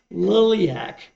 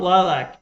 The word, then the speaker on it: Liliac: It's not lilac, it's a Liliac. They spell it out phonetically, and I get that.